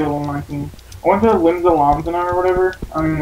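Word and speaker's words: Limsa Lominsa: I went to Limsa Lomzana or whatever. I don't even know how to say that. Is that how you say it? It's Limsa Lomenza. Limsa Lomenza.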